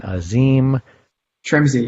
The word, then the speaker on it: Asim Trimzi: And we're back with Cyrus Rosen and Asim Trimzi, yeah. So it's pronounced just like it sounds, just like it looks.